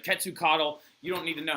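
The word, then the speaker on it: Quetzalcoatl: to prevent the onslaught of their God name ketsu Caudill right cut to coddle you don't need to know how to spell that but if you want to it's qu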